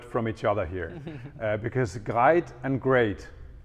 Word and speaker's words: GREIT: You pronounce it GREIT, or if you're a real Norwegian, it's more like GREIT. But we allow you to say GREIT, like a bit like great.